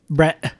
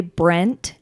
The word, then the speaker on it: Brett: the nickname is that everyone says my name without actually pronouncing the t's the second T Bret Brett so many people say Brent and they know it's